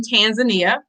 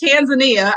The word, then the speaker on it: Tanzania: of the country's name but it's tanzania i don't know where these other pronunciations came from and i do understand that even some tanzanians will you know change it to be polite but it's definitely tanzania but i digress that's